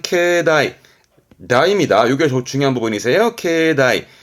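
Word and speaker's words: 境内: 경란 얘기니까 그 경계선 안을 의미하는데 발음이 중요합니다 발음은 케다이 다입니다 요게 중요한 부분이요 케다이 다라는 건 경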